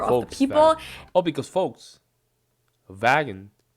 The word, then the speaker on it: Volkswagen: is a v Volkswagen I'm going to try pronounce Volkswagen this literally means people's car or car of the people oh because folks vagon it's like a wagon folks wagon so folks folks people wagon means you know